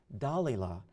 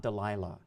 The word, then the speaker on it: Dalila: a moment and explain to you why I pronounce her name "Dalila" and not "Delilah".